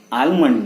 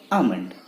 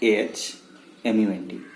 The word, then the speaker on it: almond: आलमंड नहीं, आलमंड नहीं, आमंड. क्या कहा? आमंड. Pronounced as AHMUND.